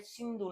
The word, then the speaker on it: सिंधु: तो इस जो हमारे ईरानी लोग थे, पर्शियन लोग थे, वो इस सिंधु नदी को सिंधु नहीं बोल पाते थे, वो सह को है प्रोनाउंस करते थे, जिसकी वजह से इसको वो हिंदू नदी बोलते थे।